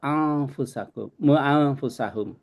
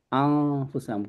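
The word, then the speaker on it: أنفسهم: Ini juga kalau di depannya ini ya, selain huruf khalqin, selain huruf ini dibacanya lebur, jadi kayak bukan anfusakum. Jadi nggak sampai nempel anfusakum, anfusahum gitu.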